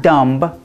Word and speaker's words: dumb: you need to because these words we do not say the bee and if you're learning English you may read the B and want to pronounce it but we are not